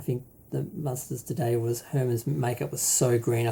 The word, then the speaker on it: Herrmann: I want to say Harriman, but it's Herman, played Herman, and Veronica